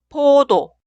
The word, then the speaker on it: 포도: La primera sílaba suena po, po. Y la sílaba al lado suena do, do. Leemos las dos sílabas. 포도, 포도.